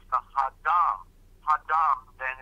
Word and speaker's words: Adam: I knew they also spelled Adam with an H, and it's pronounced Hadam.